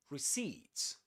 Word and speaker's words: receipt: The accented syllable is the last one. Seeds. Receipts.